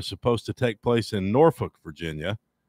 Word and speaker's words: Norfolk: Virginia Tech and Old Dominion have cancelled four future scheduled games, including all three that were supposed to take place in Norfolk, Virginia.